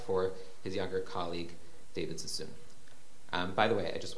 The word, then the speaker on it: Sassoon: understand, there is no, in standard Arabic or Baghdadi Arabic, there is no O vowel. Perhaps Professor Frankel, you will correct me. There's generally no O. It's pronounced as U. So Sheikh Sasson, we would say Sheikh